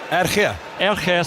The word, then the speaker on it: RG: Kobus Reinach, that's a Franco Mostert is off for RG Snyman, although again Bobby Skinstad will give the correct pronunciation of RG. Go on, Bobby. Erge Snyman.